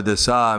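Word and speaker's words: daśā: Shravana Dasa means the stage. It's spelled the same thing as Das, but it's Dasa.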